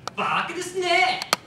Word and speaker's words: Baka Desnay: To give the proper pronunciation, Baka Desnay!